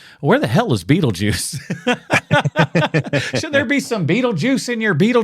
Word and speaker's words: Beetlejuice: how you spelled his name but just say Beetle Juice it it's pronounced Beetle Juice but I think that that's how a originally